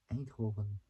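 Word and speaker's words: Eindhoven: in the Netherlands aov a Hoven that's how this is pronounced in Dutch well I call it oven like a German kind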